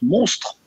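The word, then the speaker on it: MNSTR: digitale qui s'appelle alors ça s'écrit mns terme et je crois que ça se prononce monstre exactement 1 13 ans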